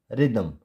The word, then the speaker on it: rhythm: जैसे RHYTHM रिदम, रिदम। एंड राइम, राइम। यहाँ पे एच हम प्रोनाउंस नहीं कर रहे, हम डायरेक्ट बोल रहे हैं RY, राइम, राइम।